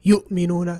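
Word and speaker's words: يؤمنون: and how the different reciters would pronounce it. Some would say yu'minuna, some say yuminuna, okay?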